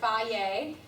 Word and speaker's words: Hy-Vee: It's pronounced Hy-Vee.